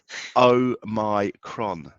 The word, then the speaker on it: Omicron: but i don't remember oh my kron that's how you pronounce it oh my god oh